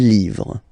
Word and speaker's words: livres: Okay, les, and then same rule, you just write livre, and then you put s at the end, but then you don't pronounce it. Les livres.